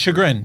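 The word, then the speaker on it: chagrin: Shagrin.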